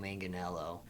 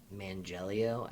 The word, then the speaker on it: Manganiello: I feel like I have dyslexia too, because I just literally read his name all the time as Mangelio, and I don't know why. Anyways, Joe Manganiello, he played Flash Thompson.